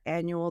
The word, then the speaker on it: annual: for the pronunciation here it's that an but it's that nasal American a if you're a Spanish speaker it's like the and then there's like an IU instead of just you and Wool Wool so that W sound is a w intrusion in linguistics that's what